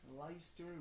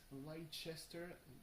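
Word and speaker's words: Leicester: between Paris and Lester everyone in cranston seems to be said some pronouncing pronouncing it leister which is already better than I've heard coming from some American people who were killing it light Chester despite the fact that there is no age so yeah was an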